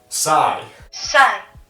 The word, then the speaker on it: psi: other one which i just learned how to pronounce is psi psi okay and psi is 1 minus the